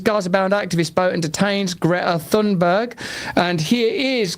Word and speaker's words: Greta Thunberg: Israel seizes Gaza-bound activist boat and detains Greta Thunberg. And here is Greta Thunberg being captured while delivering food to Gaza.